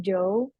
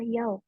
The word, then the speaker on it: jou: Oke, jadi di sini ada yang aku bilang ya ada huruf J, jadi bukan Joe. Kita bacanya adalah Yau karena bahasa Belanda J itu Y gitu.